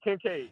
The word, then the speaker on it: Kincaid: Kittle or Kelsey, and I can't bank gotta pronounce his name. Kincaid? Yeah, Kincaid.